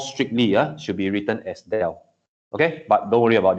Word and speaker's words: del: uh we name it as Dell or we pronounce it as Dell okay now this guy is actually partially differentiate